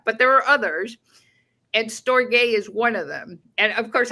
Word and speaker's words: storge: Okay, well, it's spelled, it's Greek. It's Storge.